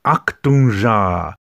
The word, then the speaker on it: aktunja: to pronounce this word because it can be a little bit tricky because it has to do with the k and t they're spoken together when you look at